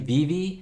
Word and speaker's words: VeVe: vb i've been saying vive i know i've been saying it wrong it's actually vv i think it's going